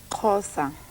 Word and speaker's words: Xhosa: language you're speaking how do you say it xhosa what kind of language is that it's got